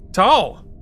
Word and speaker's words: towel: Texans tend to say tall, a single syllable for towel as well.